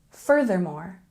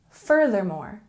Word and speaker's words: furthermore: a little more formal furthermore can be a little tricky to pronounce so let's practice together we've got a stress on the first syllable and we have the th sound put the tongue between your teeth and practice it with